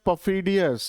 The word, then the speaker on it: perfidious: आज का हमारा दूसरा वर्ड है पफीडियस। इसमें आर साइलेंट होता है पफीडियस।